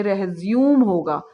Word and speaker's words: resume: अगर आप इसको एज अ वर्ब यूज़ कर रहे हैं तो ये रेज्यूम होगा, REHZYOOM. यहाँ पे स्ट्रेस सेकेंड सिलेबल पे आपका जो होगा.